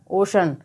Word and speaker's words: ocean: इसी प्रकार से OCEAN, तो जब सी के बाद में EA आए तो सी का उच्चारण श होता है। OCEAN को हम क्या पढ़ेंगे, ओशन।